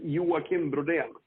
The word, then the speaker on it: Joakim Brodén: Can you tell me the exact pronunciation of your name? I'm not too worried about it, but it's Joakim Broden.